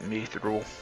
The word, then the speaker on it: mithril: new sword myth rule i've always pronounced it mithril i'm probably always in hard that i've heard it pronounced me through and other and other